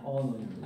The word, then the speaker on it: anonymous: anonymous. 이런 발음들은요, 자꾸 하세요.